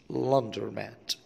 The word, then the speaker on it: laundromat: Laundromat. Laundromat. اللي هنا ما تنطقتش يا جماعة. مش لاندرو. لا. Laundromat.